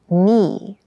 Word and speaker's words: knee: it feels quite hard keep in mind yes this word begins with a k in spelling but the pronunciation is knee the boy fell and